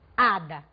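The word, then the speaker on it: hada: Portanto, você pode elaborar várias analogias em cima disso, como por exemplo, ada.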